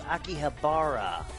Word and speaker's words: Akihabara: For the millionth time, it's Akihabara.